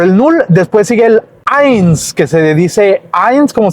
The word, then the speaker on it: eins: al final, en medio, la E junto con la I suenan como si fuera AI. Entonces la E cambia su significado por A. Entonces, eins se escribe E-I-N-S. E-I-N-S.